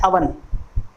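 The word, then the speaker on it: oven: अगला देखिए अवन, इसको ओवन बोलते हैं, वो हम गलत प्रोनाउंस करते हैं, इसका सही प्रोनाउंस होता है अवन।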